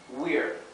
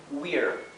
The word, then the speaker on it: we're: Y esta A es casi como si no se pronunciara, como si directamente pasáramos a la R, we're, ¿sí? Si ustedes pueden pronunciar la R inglesa de la forma correcta, eviten pronunciar esta A. Digan directamente we're, ¿sí?